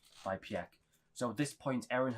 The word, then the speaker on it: Pieck: No, it is Pieck. Pieck, how you pronounce it.